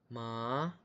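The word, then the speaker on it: 妈: Ma itu nada 1. Cara bacanya sendiri harus datar, seperti lambangnya yang datar.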